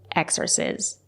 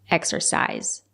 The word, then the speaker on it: exercise: to exorcise my creativ it's not correct to say exercise it's pronounced exercise use the long I exercise it can